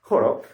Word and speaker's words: Holo: y era gracias a Horo, escrito Holo, pero por reglas fonéticas de japonés pronunciado Horo, que él conseguía el producto.